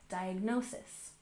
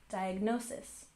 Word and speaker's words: diagnosis: We put the main stress on the third syllable, diagnosis, diagnosis.